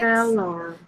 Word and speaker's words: failure: Number six, Failure. failure. Failure. Failure. Yeah. Failure. Mhm. So, where is the stress syllable there? Failure. Um, I think the stress is the first phase. The first Mhm.